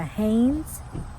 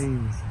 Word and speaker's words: Haines: It's called the Haines.